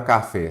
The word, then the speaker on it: café: Se eu tenho a palavra café, separe em sílaba. Qual que é a sílaba tônica? Se tem acento, já é ela. É fé. Então, é a última que eu já tenho uma palavra oxítona.